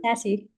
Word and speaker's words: Nasi: Nassi.